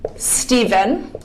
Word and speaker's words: Stephen: Now, the PH combination can either sound like a V, like in the word, or like in the name Stephen.